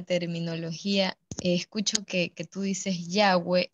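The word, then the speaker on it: Yahweh: personas dicen ya ve en hebreo no hay vocales y realmente no es yagüe sino y h w h en las traducciones latinas se le ha puesto vocales para que podamos pronunciar de alguna manera nosotros entonces ahí pues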